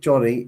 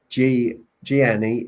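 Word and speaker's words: Gianni: And I will I will come back to New York at some point saying it Johnny is phonetically correct. Giani pronouncing it like Giani isn't correct.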